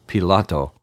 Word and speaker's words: Pilate: In the first half of this chapter, Jesus was tried by Pilate, or Pilato, as I pronounce his name, and Herod, before finally Pilato caved into pressure and sentenced Jesus to death.